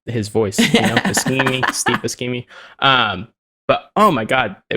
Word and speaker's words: Buscemi: And then there was this Steve Buscemi comedy that seemed to have like some dark humor in it, and I was like, what is this? Wait, how did you pronounce his name? Steve Buscemi, isn't that Buscemi, Steve, right?